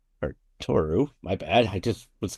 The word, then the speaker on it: Tohoru: Turo or Toru, my bad. I just was got so excited I mispronounced your name.